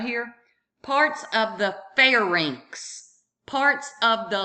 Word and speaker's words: pharynx: Remember, Y is pronounced as I, R-I-N-X. Rinx, pharynx, larynx.